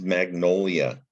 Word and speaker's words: magnolia: This is magnolia.